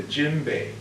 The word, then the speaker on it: djembe: It's known as a djembe. Can you say that word with me? Djembe? Djembe. Djembe. And it's spelled D-J-E-M-B-E, like Javon mustard.